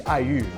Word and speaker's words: aiyu: Have you had aiyu before? No. It's a type of jelly dessert from Taiwan. And it's funny, it's perfect because I is spelled A-I in Pinyin.